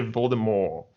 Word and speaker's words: Voldemort: The French say Voldemort. We should have asked Jared how he pronounced that.